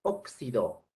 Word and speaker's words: óxido: lo usamos nosotros para representar a veces a dos fonemas k s por ejemplo óxido se escribe con x